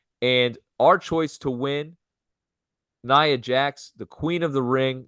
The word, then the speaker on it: Nia Jax: Now let's just finish real quick with the women's division, and we're going to talk about Nia Jax, and that's how you say it, Nia Jax,